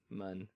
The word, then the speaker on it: Mun: Yes, mun. I thought I said it right that time. It's pronounced mun.